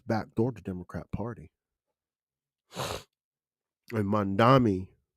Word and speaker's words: Mamdani: And Mamdani, right?